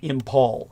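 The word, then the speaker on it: Imphal: that would be the battles of Kohima and Impal. These are spelled K O H I M A. And Impal is spelled I M P H A L.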